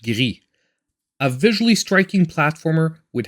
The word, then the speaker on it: Gris: Now if we move on to number 9, and Gris, or how it's supposed to be pronounced, Gris.